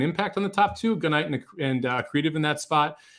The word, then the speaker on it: Gunite: Jared says it like he's saying good night with a southern accent. You say Gunite or Gunite? I say Gunite because it's a gun runner.